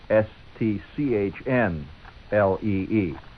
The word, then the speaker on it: Stanley: Actually, that's the Chinese Stanley, which is Stchnlee. Stanley is actually the way it's pronounced.